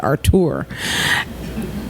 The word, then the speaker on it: Artur: And I settled on a little-known congressman from Alabama whose name is Artur Davis. His mother was a French teacher, so it's pronounced Artur, in Birmingham.